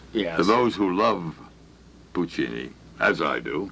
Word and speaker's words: Puccini: pronounce Puccini, I but do it's not. actually Puccini. I thought it was Puccanini.